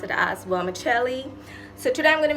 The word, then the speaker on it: vermicelli: using this ingredient I used to call it wormis Sil okay so I I still thought something was wrong in that pronunciation so I literally went on to Google